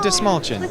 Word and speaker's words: Dastmalchian: sure it's destination and the trick is if you had a small chin you'd say this small chin so this small chin David de smallchen David de small oh